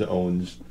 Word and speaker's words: OVVNS: ever you want the I mean the joke was owns technically it's a levy but thanks to the magic of kerning it looks like owns okay it could also